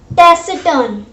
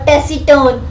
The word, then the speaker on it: taciturn: So this is pronounced as taciturn. Okay, taciturn, not taciturn or taciturn.